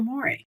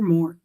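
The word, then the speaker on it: mores: going out there and breaking a social more, or more, depending on how you want to pronounce it. People pronounce it differently.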